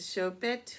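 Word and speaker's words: Choupette: Ramaswamy, and the late Carl Lagerfeld's cat, Chopet, pronounced Chopet, who made headlines as the Met Gala honored the late Chanel designer.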